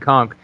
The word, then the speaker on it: conch: on what it actually takes to become a conch am i saying it right conch yeah yeah what is what do you have